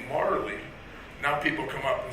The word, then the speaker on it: Majerle: Okay, actually, Dan Marley. Yes. What's the worst pronunciation of your last name you've ever Well, heard?